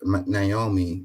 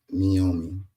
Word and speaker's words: Naomi: say with their chest it says Greg it's pronounced Naomi not meomi sorry been struggling with that one my whole